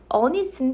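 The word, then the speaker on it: honest: " 오니스트 " 라고 읽지만 'h' 는 발음 하지 않습니다 . 그러니까 " 어 " 가 아니라 " 언 " 이에요 .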